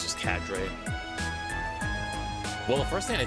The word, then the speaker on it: cadre: I I tried to listen to how they pronounce it. Cadra. Whatever. Oh, wait. Here we go. Cadre. Oh, it's just Cadre.